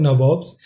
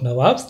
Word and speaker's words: Nawab: So what this term Nabobs? So when they were not able to pronounce it correctly, so they used to call it as, instead of Nawabs, they used to call it as the Nabobs.